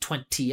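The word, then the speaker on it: twenty: So, it's not a surprise but you guys can If sounds even easier to understand if you don't pronounce the second T in 20, you just say 20 20 20 instead of 20 20 like that.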